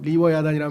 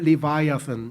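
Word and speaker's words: Leviathan: 뭐냐 여기서 나온 거예요 그러니까 영어 발음 리워야단이라는 말은 우리말로 이제 음역을 한 거고 영어로 발음하면은 리바이아슨 이렇게 되는데 그게 아주 최고 군주의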